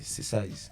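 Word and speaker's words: Sayze: Size c'est pas le size de numéro. Ça s'écrit S-A-Y-Z-E. C'est autre chose. C'est Size.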